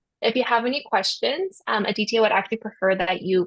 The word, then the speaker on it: Aditya: Okay, so I'm Aditya. That's how I pronounce the name, but it's Aditya, it's fine.